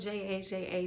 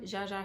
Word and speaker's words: Jaja: from zsa or yaya not too sure how to say it it's spelled j aja so we're gonna say jaja today um from amazon and